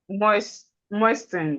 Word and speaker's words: moisten: Moisten. Yes. Must. No, moisten. Moisten. The T is silent.